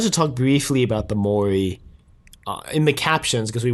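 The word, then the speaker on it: Mouri: part of it um they spell it m-o-u-r-i i think yeah yeah but they pronounce it mori and that just made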